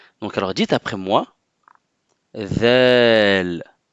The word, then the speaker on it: ذال: Donc si je suis en face de vous, je peux voir votre bout de langue lors de la prononciation de cette lettre. Donc alors dites après moi, ذال, ذال.